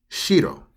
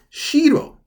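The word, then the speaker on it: 城: Now, if you were to say it with a low pitch, if you say it like shiro, shiro, this one here, you see where it says castle? It has the same romaji there.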